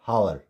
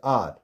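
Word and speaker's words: hour: And this is आर, आर नॉट हावर, इट्स आर।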